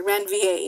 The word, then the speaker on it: Ranvier: And those unmyelinated segments of axons are called the nodes of Ranvier. I'm sorry, Ranvier is the correct pronunciation. I always say Ranvier because that helps me spell it, but it's nodes of Ranvier.